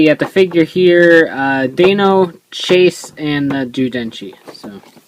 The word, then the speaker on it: Deino: So everyone thought it was Dino, but it's actually Deino, so we'll go with that.